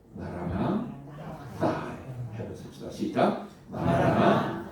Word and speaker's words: 마라나타: 자, 우리가 보통 마라나타 그러지 않습니까? 정확한 발음이 뭐예요? 마라나 따.